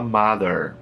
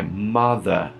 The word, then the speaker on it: mother: Se é pronunciado no inglês americano, o americano ele fala mother, there. Você enrola a língua e você faz esse som certo? O britânico não pronuncia R em final de palavra. É mother.